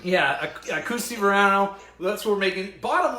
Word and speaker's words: Akoho Sy Voanio: have wrote this down, but it's like it's pronounced Akoho Sy Voanio. Where's Tanya when you need her? I was going to say, where's Tanya? She correct me. Yeah, Akoho Sy Voanio.